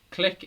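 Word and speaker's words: Klich: the goals click uh click it's like he's pronounced click it's no glitch i don't know and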